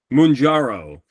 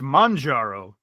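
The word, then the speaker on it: Mounjaro: We got Okay, next up, Munjaro. Kaiju, that is incorrect. Ah, that is a pharmaceutical. Oh, I take it back. You said it wrong. It's mangaro.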